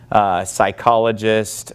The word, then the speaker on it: psychologist: just call it Psalms psychologist we would not pronounce the P but in Greek they